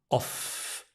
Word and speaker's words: off: I'm off my game off with a f not V off it's not voiced I'm off my game